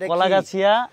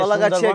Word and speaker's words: কলাগাছিয়া: দিচ্ছেন এইযে আমরা যে কলাগাছিয়া এইযে কলাগাছি কিন্তু এটা কি লিখছে নিচে কলাগাছি লেখছে কেন না কলাগাছি না কলাগাছি উপরেরটা ঠিক আছে নিচে কেন কালাগাছি এটারে কালা কালা উচ্চারণ হবে না এটা কলা হবে কলা যাই হোক এই